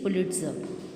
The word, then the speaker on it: Pulitzer: Its right pronunciation is Pulitzer. R is silent here.